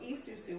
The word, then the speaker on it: isusu: And then there's a practice called Isusu, which is spelled I-S-U-S-U, which so the Asusu is shared money, the Isusu is shared labor.